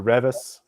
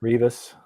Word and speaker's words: Rivas: Team Gabriel Rivas or Revis. I never know how to pronounce their name. Revis. Rivas. Is it Rivas or Revis? Rivas.